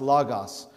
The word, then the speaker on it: logos: logos or lagos it's it's spelled out logos but it's pronounced lagos the greek people the